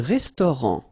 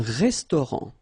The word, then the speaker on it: restaurant: Un restaurant. Final T not pronounced. Un restaurant.